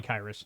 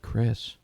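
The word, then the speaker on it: Khyiris: right probably come on it's K it's k-h-y-i-r-i-s that's probably Kairos I think they actually pronounced it Chris if I remember I think it is if I remember hearing it now don't God please don't don't hate me I think it's actually pronounced Chris all right so Chris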